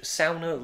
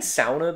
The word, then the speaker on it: sauna: what our in cottage sauna looks like I'm saying sauna because that's what I've heard Finnish people pronounce it as you know I would